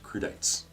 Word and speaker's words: crudités: word is crude e tape create a snap pronounced crudités number two that bandwidth e'en Kilmister is better